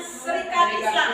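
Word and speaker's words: Sarekat Islam: Tulisannya syarikat Islam bacanya Serikat Islam atau disingkat dengan si itu dia berdiri pada tahun 1912.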